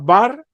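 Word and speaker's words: בר: En español se pronuncia bar, en este caso, que significa hijo o nieto.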